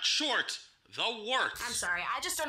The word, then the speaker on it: Wort: Hey, moron, it's pronounced the Wort. What the hell is a wort? It's pronounced the Wort. What is it? The wort? Yeah, okay, I'll do that again. This is the Wort on Govs Radio. It is the Wort. Not warts, not forts, not short.